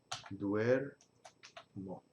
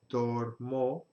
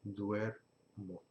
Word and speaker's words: duermo: Y va a decir duermo. En lugar de dormo, estaría mal, decimos duermo.